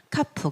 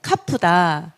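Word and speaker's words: כף: 카프. 그래서 이것도 다게시가 있습니다. 크 발음인데요. 이게 없으면 약간 느낌이 크 이런 발음이라면 이 다게시가 있으면 이 발음 약간 차이가 있습니다.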